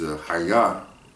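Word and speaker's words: חָיָה: Haya. Haya. So the pronunciation of that word is Haya, and it means to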